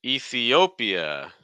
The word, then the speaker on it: Ethiopia: so Mexico Co Mexico next one Ethiopia it's nice vow Sounds here we have an e then we have an e then we have an O then we have an e then we have an uh lots of e sounds say Ethiopia Ethiopia Ethiopia no again the stress comes late e and then we get the stress so you make sure